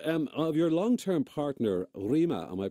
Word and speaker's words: Rima: now um of your long-term partner Rema am I pronouncing rema's name correctly you are what what